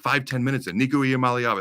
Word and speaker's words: Nico Iamaleava: So his name is Nico Iamaleava.